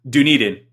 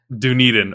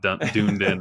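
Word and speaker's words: Dunedin: It's Duniden. Duniden. Okay. Not Duned In or any of that stuff.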